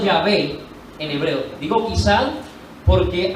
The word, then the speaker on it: Yahvé: Por eso yo coloco allí, quizá pronunciado Yahvé o Yahweh, como pronuncian algunas personas, que en castellano para nosotros es Jehová.